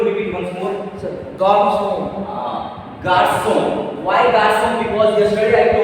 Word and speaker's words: garçon: Garçon.